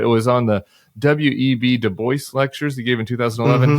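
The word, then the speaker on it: Du Bois: was on the web deboy lectures he gave in 2011 he pronounced it de Boyce is that right exactly yeah why is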